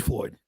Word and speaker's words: Floyd: I grew up with a George Lloyd, and I keep calling him George Lloyd. Don't do that. His name is George Floyd.